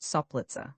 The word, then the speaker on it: Soplica: C is invariably pronounced soft like TZ, before all vowels and before consonants, even in cases where it is hard in other languages, as soplica, pronounced soplitza.